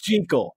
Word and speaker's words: Jekyll: Jekyll and Mr.